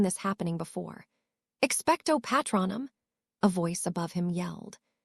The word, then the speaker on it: Patronum: Expectto Patnum, he shouted. Nothing happened. The pronunciation had seemed a bit off. Patronum, Lily corrected tiredly.